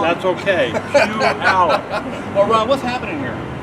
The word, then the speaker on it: Puyallup: It's Puyallup. I always say it wrong. That's okay. Puyallup.